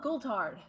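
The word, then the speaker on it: Goultard: wait wait who g-o-u-l-t-a-r-d gollard oh goldhard okay that is how that's pronounced okay um he also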